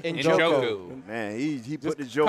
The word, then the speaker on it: Njoku: He is how you pronounce that last name? Njoku.